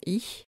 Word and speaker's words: ich: Dans notre corpus, CH se prononce ch devant A ou U, comme dans Nacht ou Noch, et ch partout ailleurs, comme dans ich, lächeln, streich et welchen.